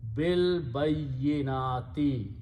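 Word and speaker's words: بِالْبَيِّنَاتِ: Harf-jar looks at the last letter and changes dhamma or pesh to a kasra, and then you pronounce B without pronouncing alif in between. Bil bayyinati, with clear signs.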